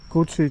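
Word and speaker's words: Củ Chi: Kuchi, czy też Kuti, jak oni Kuti wymawiają.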